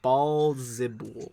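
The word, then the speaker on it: Baalzebul: I almost said but Beelzebub, but no, it is Balzibul is the phonetic pronunciation.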